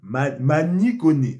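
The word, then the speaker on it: Manu Koné: Milieu, Kamavinga, Gendouzi, Manu Kone. Mani Kone. Faut prononcer comme ça.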